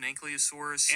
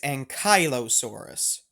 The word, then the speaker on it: Ankylosaurus: the tale of an anosa and it's larger than the and right here's our first mispronunciation that we're going to correct um there's no such thing as anosa it's Ankylosaurus um coming from the Greek